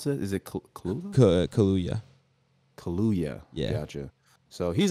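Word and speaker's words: Kaluuya: maybe yeah probably and daniel how do you pronounce that is it kaluya kaluya yeah gotcha so he's on here twice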